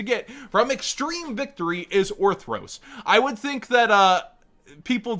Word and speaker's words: Orthros: Scrap Orthros, which I've been saying is Scrap Orthos forever. You know, sometimes you learn you've been saying a card's name wrong for like 10 years.